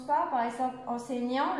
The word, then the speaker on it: enseignant: Par exemple, enseignant, le T ne se prononce pas, et tous les autres, ça se prononce.